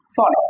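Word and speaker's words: son: এটার উচ্চারণ কি নট এটার উচ্চারণ কি নট সন এটা হবে সান কি হবে সান এস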